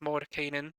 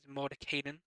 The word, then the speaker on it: Mordenkainen: talking about and that's Mor Kanan guess the correct pronunciation is mod Kanan mod kanan's magnificent Mansion